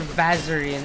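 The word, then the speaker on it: Vazarin: fix that up and get bazaarin when I can for vaserin as they print as the game officially pronounces it is this no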